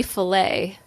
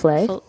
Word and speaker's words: Flay: you're calling him bobby fillet bobby flay flay not like fellaio fish no it's not filet fish i'm just saying it